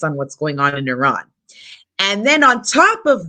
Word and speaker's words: Iran: it's And then the second question is how can you say you're not racist when, first of all, you're pronouncing it Iran when the correct pronunciation is Iran, on.